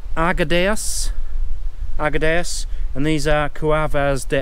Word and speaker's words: Arguedas: get this right now, you pronounce the name of the village Arguedas, and these are Cuevas de Argedayas, which is obviously caves of Arguedas.